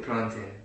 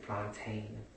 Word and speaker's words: plantain: We call it plantin, but you know, certain people pronounce it plantain.